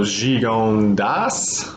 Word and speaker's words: Gigondas: Welcome everyone, Herr Wang in the house this evening, bringing to y'all a bottle of Gigondas, or Gigonda, whichever you prefer in your pronunciation.